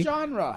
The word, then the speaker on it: genre: genre genre spelled z-h so you keep saying john like john with the j genre it is not listen genre genre there's